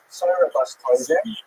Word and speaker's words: Sarah Bas Tovim: Her name is Sarah Bas Tovim, or pronounced in her time, Sarah Bas Tovim, right, from the Yiddish pronunciation.